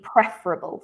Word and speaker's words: preferable: it's an adjective the stress is on the first syllable so preferable i think it would be i can't remember what you said but it would be preferable so we stressed the first uh syllable of that word but um apart from